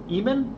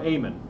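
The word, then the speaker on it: Eamon: it he developed it in Eman or amen for the Apple 2 am am e a m o n is how it's spelled I made a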